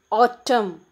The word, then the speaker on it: autumn: silent then in the second one autumn we won't pronounce the letter n then the third one